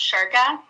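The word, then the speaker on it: Ciurca: It's C as in cat, I-U-R-C-A. And again, it's pronounced Shurka.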